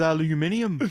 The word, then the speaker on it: aluminium: Playing with aluminium.